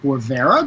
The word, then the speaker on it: Guevara: We are lucky enough to be joined by brothers Alexis and Edgar Guevara. Did I say it right? That's correct. Yeah. Oh, Nailed it.